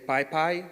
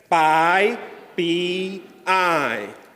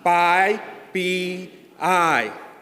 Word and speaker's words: PyPI: I heard a lot of you saying PyPI, which is an interpreter. So we're going to learn how to say the package index. It's Pi, P, I. Together, Pi, P, I. Again, Pi, P, I.